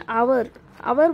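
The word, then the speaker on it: hour: अब यहाँ पे देखिए फर्स्ट वन आवर बोलते हैं हम, 1 हावर नहीं बोलते।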